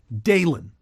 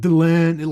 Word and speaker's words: Delenn: host of Siffy Wire how she pronounced the name Delenn? Dalen. It wasn't like Delenn, like somehow she just accentuated a certain part of it.